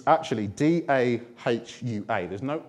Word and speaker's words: Dahua: But you pronounce it Dahua, okay? It's a Chinese brand.